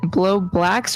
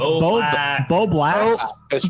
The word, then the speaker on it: Bo Blacks: Is blowbacks, y'all, how do you say, is it blowblacks or blowbacks? It's Bo Blacks.